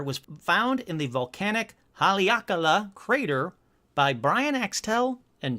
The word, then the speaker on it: Haleakala: Hold on, let's find out how to pronounce Haleakala, because I should have done this before the episode started, but why wait till then?